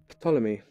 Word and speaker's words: Ptolemy: see who discovered it Ptolemy I know you don't pronounce the P I mean west country